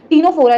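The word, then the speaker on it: Ctenophora: जैसे T silent है, जैसे टीनोफोरा है जिसमें सी साइलेंट होता है, तो मैं पहले के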